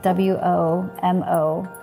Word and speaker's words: womolete: So I invented this term WOMOLETE I spell it W- O-M-O-L-E-T-E, WOMOLETE.